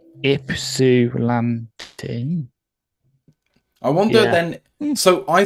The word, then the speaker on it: Ypsilanti: from a place in Michigan that I cannot pronounce. Ypsilanti?